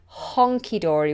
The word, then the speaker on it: hunky-dory: we have the word hunky-dory hunky-dory now i say this like honky-dory with an o and some people spell